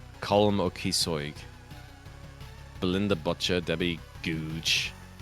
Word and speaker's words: Googe: Belinda Butcher, Debbie Googe. That's just Google without the L. Can't just call Debbie a Googe, Sean.